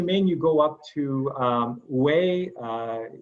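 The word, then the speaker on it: Huế: From Ho Chi Minh, you go up to Hue. It's spelled H-U-E, but it's pronounced Hue, as in W-H-A-Y.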